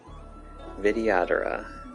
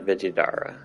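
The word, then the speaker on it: Vidyadhara: what a vidad is I've been saying it wrong though for a while vidad not viida viad this must be your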